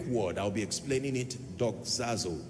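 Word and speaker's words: δοξάζω: teaching tonight on a subject that I title dog zazo I want to teach you how the Saints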